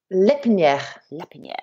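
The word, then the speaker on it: L'Herpiniere: no absolutely fabulous now I know I have butchered your your surname but how would you say off your surname in French lip Nia Oh sounds fabulous thank you okay so you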